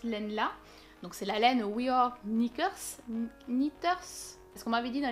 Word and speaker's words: We Are Knitters: Donc c'est la laine We Are Knitters. Parce qu'on m'avait dit dans les commentaires qu'il ne fallait pas prononcer le K. Donc si ma prononciation est bonne, We Are Knitters.